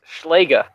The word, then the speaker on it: Schlega: It's pronounced Schlega. I learned the hard way because at Nats 2016, I butchered his last name.